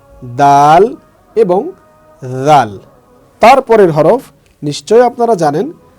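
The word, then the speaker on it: ذال: খ দাল জাল জাল বলার ক্ষেত্রে আমরা যেটা খেয়াল করব সেটা হচ্ছে জিহ্বার আগা সামনের উপরের দুই দাঁতের আগার সাথে লাগিয়ে জাল উচ্চারণ হবে তাহলে জাল জাল ঠিক এভাবে তারপরে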